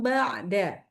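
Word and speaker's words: بعد: Ba jangan ba jadi langsung masuk ke ain enggak boleh ba. Ba'da banya masuk hidung. Oke, nanti latihan ya. Bnya enggak boleh masuk hidung tuh kalau baca ba'da ya.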